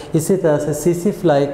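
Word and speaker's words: tsetse: और बेटे ये मैं एक ना यहाँ पे एक फ्लाई का नाम, ये बेसिकली इनसेक्ट्स में आती है, ये सीसी फ्लाई, इसमें टी साइलेंट है, सीसी फ्लाई है, ये बेसिकली उसमें होगा।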